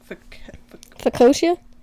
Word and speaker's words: focaccia: Fiocia? Focaccia?